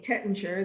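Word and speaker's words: Taittinger: mike pfeiffer who's going to talk about champagne tetanger the way i like to to say it the way americans say it because it you know makes me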